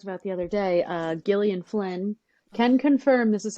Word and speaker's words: Gillian: the other day uh Gillian Flynn can confirm this is how she pronounced her name it's not Jillian it's Gillian uh she did an